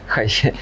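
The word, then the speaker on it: HiPhi: А я думал, что он хип-хи читается. Не, правильно, короче, Hi-Fi.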